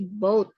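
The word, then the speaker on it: bought: Sama yang by juga kan dari boat. Ya. Boat ya. Tapi GH-nya tuh silence ya. Jadi Boat. cara bacanya boat gitu.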